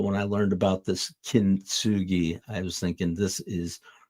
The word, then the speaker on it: Kintsugi: Kintsugi, kin with the emphasis on the first syllable.